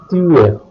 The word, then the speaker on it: tuer: Verbs ending with the letters ER have a silent R. Aimer, manger, tuer.